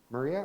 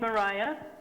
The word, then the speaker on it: Maria: have listed Maria Maria are you with us I am good morning my name is Mariah oh sorry Mariah my my bad um so Mariah no it's not it's spelled like Maria very well um Mariah